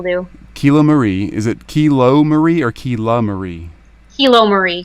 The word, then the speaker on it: KiloMarie: help me out make sure I get name pronunciations exactly right before we jump in here so my first name is kilo Marie and last name is and if it's